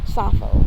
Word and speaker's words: Sappho: name and an english name my english name safo so it's spelled s-a-p-p-h-o those that have never heard of